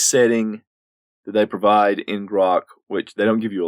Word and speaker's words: Grok?!: a few minutes talking about a game called Gro and yes that there's nothing wrong with me